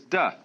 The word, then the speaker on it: Te: laity to be initiated the next word is duh because again there's no apostrophe after the T so it's pronounced d and Jing there is